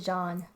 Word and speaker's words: Jean: It's basically John.